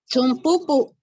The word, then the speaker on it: zumpupu: Zumpupu. Se dice zumpupu.